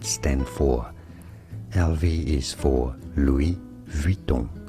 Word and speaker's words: Louis Vuitton: LV is for Louis Vuitton. Louis Vuitton is how you say it in French.